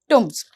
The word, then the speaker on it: tombs: were to carry away the old tombs नहीं, pronunciation ध्यान से, tombs they had seen lately at the abbey।